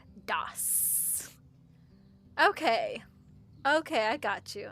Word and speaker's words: DOS: PCs ran off of an operating system called MSDOSS prior to Windows 95, pronounced DOSS.